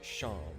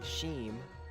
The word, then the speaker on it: Seam: said that incorrect, because, the joke is that it's like Sean, the name Sean, S-E-A-N, and his name is spelled as in seam, as in the seam in clothing, so it's pronounced Sham, and I kept saying Sheem, because I was like, okay, so I remember there's an SH, and that's the trick.